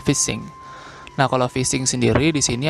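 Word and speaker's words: phishing: lalu yang selanjutnya adalah fishing fishing atau kalau prononciation yang benar adalah fishing Nah kalau fishing sendiri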